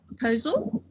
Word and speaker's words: Posel: With us today, we have Professor Posel. I didn't even ask you if I'd pronounced your surname right.